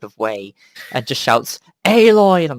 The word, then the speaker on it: Aloy: They it's won't say it properly. Say Alloy. Nope, Aloy. Aloy.